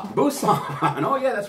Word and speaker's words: Busan: korea's second largest city it starts with a b it rhymes with rusan busan oh yeah that's right